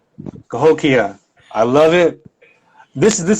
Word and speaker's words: Cahokia: another live today's page i hope i'm pronouncing it right here yeah tokyo okay i was close it's close cahokia i love it this